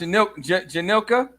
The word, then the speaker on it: Janilka: one half, and it's pronounced Janilka. Yep, you got it right.